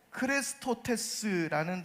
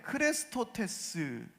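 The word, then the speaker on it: χρηστότης: 헬라어는 크레스토테스라는 단어를 씁니다. 그런데 크레스토테스라는 이 헬라어가 어떤 말과 비슷하게 들립니까? 바로 그리스도를 뜻하는 헬라어 크리스토스와 비슷하게 들립니다.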